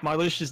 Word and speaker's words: Marluxia: And just in case you don't know, it's Marluxia's name is pronounced just like that, Marluxia.